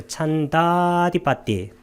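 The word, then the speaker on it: chandādhipati: 자, 따로 네 가지 아디빠띠 지배들이 있으니 찬다 할 때 요걸 길게 발음한 것은 찬다하고 그 다음에 아디빠띠를 연성한 겁니다. 그래서 찬다디빠띠.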